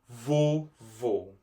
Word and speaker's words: vovô: Grandpa in Portuguese, vovô. Vovô. The second O is pronounced with a more closed sound. So that means that there is an accent on top of that O because of that.